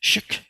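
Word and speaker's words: 識: These are different kinds of romanizations, and it's actually pronounced shik or shik without releasing the final consonant.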